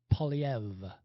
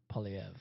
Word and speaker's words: Poilievre: of the world that can't quite pronounce his name because it's a French name? It's Poilievre, Pierre Poilievre. That's how you say it properly. Anyway, or Poilievre, but it's Poilievre.